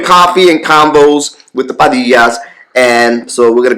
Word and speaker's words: Padilla: And we almost got into an argument last week on how to pronounce it. I was saying Padilla.